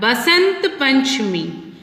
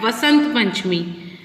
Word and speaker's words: Basant Panchami: Then we have Basant Panchami, which is also called Vasant Panchami. V or B both are correct pronunciations.